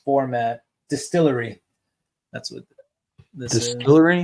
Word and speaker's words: DSTLRY: That's what this Distillery? Is. Yeah, it's spelled DSTLRY.